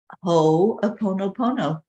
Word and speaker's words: Ho'oponopono: And it's pronounced Ho'oponopono.